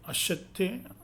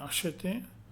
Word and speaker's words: acheter: The French consonant blend, CH has the sound of SH like in English word machine, shin, machine. Okay. Santé, acheter, okay, acheter, chien, chocolat, parachute, parachute.